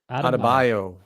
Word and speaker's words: Adebayo: casey how do you say his last name adebayo adebayo um great player and just like jimmy